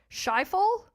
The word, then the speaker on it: Schiphol: Amsterdam's, and I won't be able to pronounce this correctly, Schiphol?